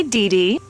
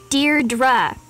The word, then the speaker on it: Deirdre: in it or something hi Dede Deirdre I know it's got that tricky second syllable but I figured it out by age two don't give up you'll get there I think you look